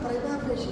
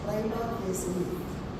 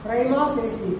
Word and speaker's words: prima facie: It's not prima facie, it's prima facie. Prima facie.